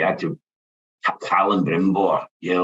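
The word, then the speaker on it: Celebrimbor: So I had people jump on me going, no, it's Callan Brimbor. Yeah, Reg. It's very realistic, I think. Sometimes people just don't know how to pronounce other people's names.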